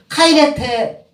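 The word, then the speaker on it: χαίρετε: 발음을 카이레테.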